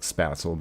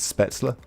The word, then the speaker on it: Spätzle: You know, the American way to say it's like spatzel, but I think the German pronunciation is spätzle.